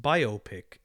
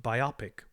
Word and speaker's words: biopic: I always say it should be pronounced biopic and not biopic, which sounds like a medical procedure.